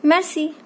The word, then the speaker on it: merci: This r sound will be very less. Merci.